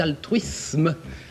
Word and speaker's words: altruisme: altruisme cadeau oui c'était altruisme un S avant une consonne se prononce s non Z je croison a répondu